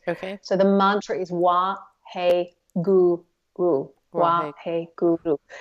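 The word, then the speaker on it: Wahe Guru: So the mantra is Wa He Guru. Wa He Guru. So with Wa He Guru, there are like 4 syllables.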